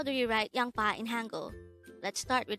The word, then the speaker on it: 양파: as a two-suitable word the first syllable is yang the second syllable is pa pronounce it with me